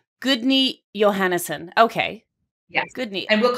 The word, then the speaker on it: Guðni Jóhannesson: So can you, I'm not very good at pronouncing very many things in Iceland. So your husband's name is? Well, I just say Gudni Johannesson. Gudni Johannesson.